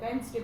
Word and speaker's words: Wednesday: WEDNES Wednesday. इसमें D आपका silent होता है, Wednesday बोलते हैं.